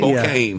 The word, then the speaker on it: Spokane: Spokane? Spokane.